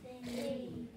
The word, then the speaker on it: fade: Fade. I say it, you say it, fade. Fade. Okay, I see that there's a silent E at the end of fade. I don't say the sound of the E.